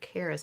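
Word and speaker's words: Creesjie: may be calling her Caris I don't know it's C re e e s j i e but that j i e is never yeah pronounced yeah he didn't sneak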